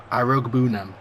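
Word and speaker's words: Iroegbunam: Irogue Boonam. Irogue Boonam.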